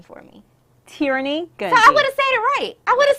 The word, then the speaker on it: Terrinee: talk about that let's talk about the book pronounce your first name for me tyranny good so I would have said it right